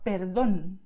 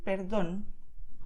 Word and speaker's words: perdón: You stress where you see the acento, América. Or perdón, you see, perdón. You just go and stress it. To stress, I mean, you just emphasize this vowel, okay? You pronounce it a little stronger. You do not change the sound of the vowel. You just go all for it, okay?